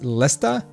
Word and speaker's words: Leicester: If Leicester is pronounced Lesta, so you're from Leicester.